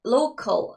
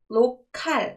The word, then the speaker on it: local: 근데 local 했을 때 local 할 때 칼 발음보다는 local 발음이 더 세다는 거. 기억해 주세요.